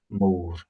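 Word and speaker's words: mòr: Quite easy to pronounce. It's just that classic Scottish rolled R with a long O. More.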